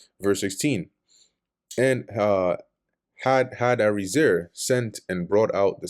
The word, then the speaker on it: Hadadezer: And Hadadezer, or Haydarazar, sent Oh, boy, I pronouncing his name wrong the previous chapter.